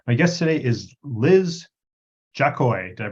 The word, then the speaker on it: Jakoi: the show description my guest today is Liz jacoy did I pronounce that properly yes you did great job